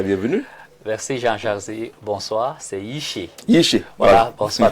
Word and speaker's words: Yiché: Merci Jean-Jacques, bonsoir, c'est Yiché.